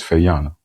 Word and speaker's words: Faona: told me your name and he says Fayana. Yes. Did I say it correctly? Did all right. I'm all about calling people what they want to be called. All right. So Fana.